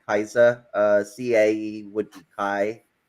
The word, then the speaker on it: Caesar: like K they say Caesar instead of Kaiser so a lot of those mistakes end up coming from in Latin it would be Kaiser uh CA would be